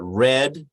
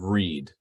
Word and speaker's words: read: his own two so I've got red and Reed okay so spell the same way but pronounce differently right um we read a